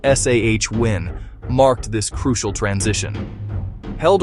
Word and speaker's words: Samhain: The festival of Samhain, pronounced Sah-win, marked this crucial transition.